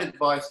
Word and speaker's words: advice: Advice, like ice, is a noun.